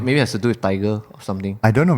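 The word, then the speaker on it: Tadhg: Mm-hmm, It's actually a Scottish-Irish boy's name, pronounced Tig.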